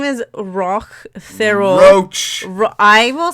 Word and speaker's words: Roch: okay here's the how to pronounce roach it's r-o-c-h roach as in the bug as in the verb okay his name is Rock feral roach I will say roach but just